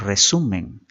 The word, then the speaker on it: resumen: La misma se divide en 3 sílabas y vemos que donde lleva la mayor fuerza de voz es en la segunda sílaba su. Esa vendría a ser la sílaba tónica y las otras, tanto